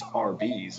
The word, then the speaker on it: Arby's: and two together that they just pronounced the word Arby's RB's instead of... Arby's, like, as in roast beef.